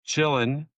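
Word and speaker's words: Qilin: Stephen, it is actually pronounced chillin, which is why I wrote chillin. But zombie chill. In the movie, they say chillin.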